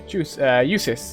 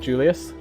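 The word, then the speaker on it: Jusis: Eusis, that's how you say his name, not Julius.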